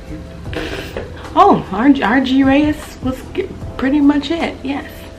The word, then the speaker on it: argyraeus: I should have looked up how to pronounce it. Argyaeus. I have my computer right here. Oh, Argyaeus was pretty much it, yes.